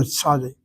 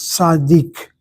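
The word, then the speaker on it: צדי: A sadi they pronounce as sadik. And the only reason they say is a sadic is they add the letter k to the word sadi.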